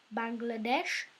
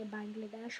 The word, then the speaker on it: Bangladesh: named after, Bhutan, Nepal, Bangladesh, I like to say Bangladesh, but it's actually pronounced Bangladesh, and Sri Lanka.